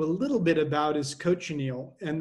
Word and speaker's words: cochineal: little bit about is cochineal and the way to remember how to pronounce it it's very tricky but is can you coach an eel my students always like